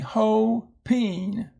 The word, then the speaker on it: hoping: And again, you notice that the P goes with the ing, hoping, hoping. And so this O here is going to be long because it is at the end of the syllable.